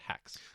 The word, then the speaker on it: H4X: We're going to speak to Cole Gurman of it's written H4X, but it's pronounced Hacks.